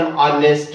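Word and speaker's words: honest: से आ रहा है, तो आपने बोलना है एन ऑनेस्ट मैन। जी हाँ, एन ऑनेस्ट मैन, यहाँ पर अ ऑनेस्ट मैन नहीं बोलना क्योंकि यहाँ पर एच जो है वो साइलेंट है।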